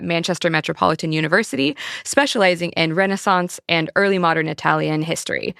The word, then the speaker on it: Renaissance: The Firearm Revolution from Renaissance Italy to the European Empires and I'm very sorry for how Americans say Renaissance, which is not how you say Renaissance, but welcome to the show.